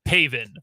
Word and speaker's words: Pavin: Pavin. Like, spelled like Gavin, but with a P. It's Pavin Smith.